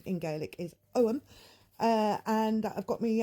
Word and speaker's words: Ogham: uh I have been considering um the augum pronounced om but uh I will use both ways of